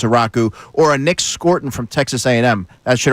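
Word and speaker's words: Scourton: Eagles really really like by the way is pronounced Scorton. I know that it's called Scowton but it is Scarton.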